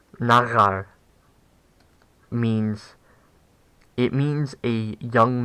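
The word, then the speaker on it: נַעַר: So, nagar, nagar means, I don't know why I was putting stress on the final syllable when saying it the first 3 times starting with. Nagar means, it means a young man.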